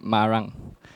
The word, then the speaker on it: Marang: It's pronounced in Malay, like Marang.